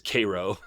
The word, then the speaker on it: Cairo: at a place called Cairo, which is spelled just like Cairo, Egypt, but regional pronunciation, I guess, is Cairo.